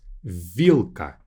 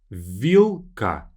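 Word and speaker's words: вилка: The way to read this word is vilka. Vilka. Again, we have l, k, two consonants together.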